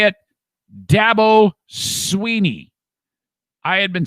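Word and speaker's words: Dabo Swinney: Okay, so you say it, Dabo Sweeney.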